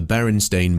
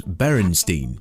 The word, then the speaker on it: Berenstain: The most popular example is that a lot of people remember the Berenstain Bears as Berenstein with an E, because that spelling feels more familiar, but the books were always spelt with an A.